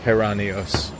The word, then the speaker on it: Geranios: Uh but it's pronounced Heranios, so the G is more of an H.